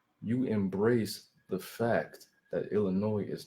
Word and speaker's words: Illinois: embrace the fact that Illinois is not pronounced with the silent Ness is pronounced Illinois with no s so now you have